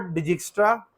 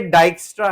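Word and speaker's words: Dijkstra: अच्छा, इसकी जो प्रोनाउंसिएशन है, इट इज नॉट डिजिक्स्ट्रा, ठीक है जी, ये डाइक्स्ट्रा है। डाइक्स्ट्रा एक डच वर्ड है, मैं पहले इसको स्पेनिश समझता था।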